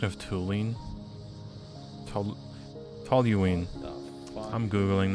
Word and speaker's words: toluene: Yeah, I was saying the U before the L. So after all that, you get hydrogen peroxide. Hydrazine? What's hydrazine used for? Hey chat, toluene sounds better than toluene.